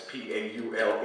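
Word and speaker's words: Paule: Paul Marshall and it's p a u l e a woman U although she pronounces it Paul and uh it's about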